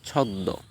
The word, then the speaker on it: ছদ্ম: উচ্চারিত হয় যেমন ছদ্দ অনেকে ছন্দ বলে বা ছদ্ম বলে নাও সঠিক উচ্চারণ হচ্ছে ছদ্দ পদ্ম অনেকে পদ্ম বলেন কিন্তু সঠিক উচ্চারণ হচ্ছে